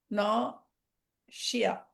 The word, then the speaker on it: nausea: nausea. நாசியா, அது அடிக்கடி நம்ம வாமிட் சொல்லுவோம். சார். வாமிட்டிங், கொமட்டல். அப்புறம் இந்த இதுல வந்து நான் இஸ் இருந்தா கூட அதை வந்து SH தான் நம்ம ப்ரொனவுன்ஸ் பண்றோம். நாஷியா, நாஷியஸ். ஓ இங்க ஓகே.